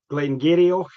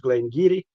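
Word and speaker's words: Glen Garioch: For those who who didn't know what I'm talking about, they might think they've seen Glen Gerio. They think it's Glen Gerio. It's pronounced Glen Giri.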